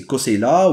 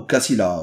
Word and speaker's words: Koseila: Et donc il peut être prononcé Koseila ou Kassila ou Kousila.